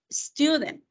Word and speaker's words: student: usted escucha esa E, sino que el sonido de la S es S. Entonces, school, student.